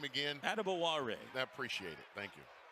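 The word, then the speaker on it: Adebawore: So I know how it used to be said by everyone, but P.J. said, actually, how you say my name is Adibawara.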